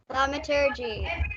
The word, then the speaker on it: thaumaturgy: I think maybe, well, Thaumaturgy. that's it. Wellbricks knows how to say it perfectly. Let's hear it again. Thaumaturgy.